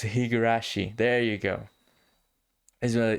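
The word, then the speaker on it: Higurashi: most was um the hirogashi um gameplay that i think that i'm pronouncing right higura jesus christ i messed it up again because i do not have it here uh but it is higarashi there you go as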